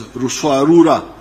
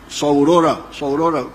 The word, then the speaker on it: Ruswarura: came to understand as Ruswarura. When you read, I think it is Speak, Understand, they write Saurora, but they were mispronouncing the name.